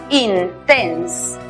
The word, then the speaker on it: intense: En la palabra intenso, está compuesta por dos sílabas. La primera sílaba es cerrada porque termina en consonante, aplicamos el sonido cerrado de la I, in. La siguiente sílaba termina en E muda. Antes hay dos consonantes, aplicamos el sonido cerrado de la E, tense, intense.